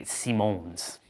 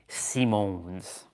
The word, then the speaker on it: Simons: It's spelled Simons, but they say Simones with with that with that like accent. Simones.